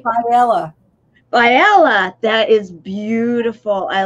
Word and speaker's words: Faiella: Faiella.